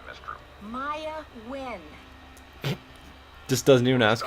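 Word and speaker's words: Nguyen: Maya Wynn. Just doesn't even ask how it's spelled.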